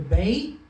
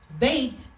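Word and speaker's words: ב: For example, when we have the bait, when it doesn't have a dot inside, it sounds like a V.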